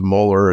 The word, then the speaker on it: Mueller: And the more I hear about coaches with GPS, for example, Garrett Mueller, I'm always messing up the pronunciation because he says Mueller. It's because he's from Minnesota.